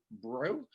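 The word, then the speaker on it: Breaux: my name is Bro. It's a weird spelling with a weird pronunciation. That's because I'm Cajun French. So it's like the jewelry store, Bro like, yo, bro, how you doing?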